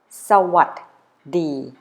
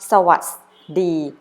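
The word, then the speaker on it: สวัสดี: would like you to pronounce it correctly let's say with me so what D so what the not so us B or so what B after you practice pronouncing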